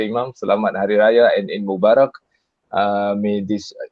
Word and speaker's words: Selamat Hari Raya: And that's how they say it in Malaysia, Imam. Selamat Hari Raya and Eid Mubarak.